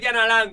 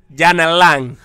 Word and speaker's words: Yanalán: Se acentúa en la última A. Se escribe con Y.